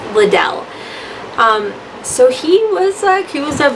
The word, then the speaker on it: Liddell: Liddell. I guess I should stop pronouncing it that way. It's Liddell.